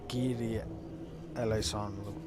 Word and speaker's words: Kyrie eleison: Well, it's Kyrie eleison, pretty much.